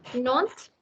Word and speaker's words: Nantes: So please don't mispronounce. Okay, Nantes, Rennes, Cannes, Limoges.